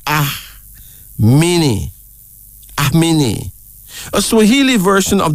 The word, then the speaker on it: Amini: A-M-I-N-I, pronounced Ahmini.